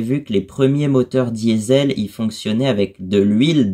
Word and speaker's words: Diesel: crois, inventés par Rudolf Diesel. C'était vraiment son nom. Enfin, en allemand, je crois que ça se prononce Diesel, il me semble, mais... Du coup, en français, on l'a prononcé diesel par la suite.